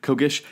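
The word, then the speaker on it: Kgish: you would particularly follow this guy named warlord Kish I think is how you pronounce it uh k g i s h Kish he was really fascinating you also see some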